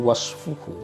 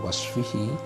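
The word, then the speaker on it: وصفه: Fal wajibu, adapun wajib, min haitsu wasfuhu, bacanya wasfuhu bukan wasfihi, karena haitsu itu pasti mudhaf kepada jumlah. Wa alzamu idhafatan ilal jumal haitsu wa idh wa in yunawwan yuhtamal.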